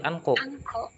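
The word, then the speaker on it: 않고: pakainya ko lagi anko. Angko. Anko.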